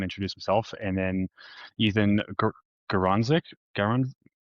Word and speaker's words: Garonzik: And then Ethan Garanzik.